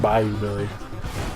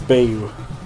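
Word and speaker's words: Bayou Billy: what is this music from The Adventures of Bay you Billy find you billion by you Billy no it's baby it's pronounced Tropez like Bayonetta it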